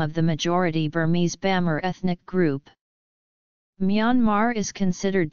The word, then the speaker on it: Bamar: Burma is derived from Bamar, the colloquial form of the group's name. Depending on the register used, the pronunciation would be Bama or Myama.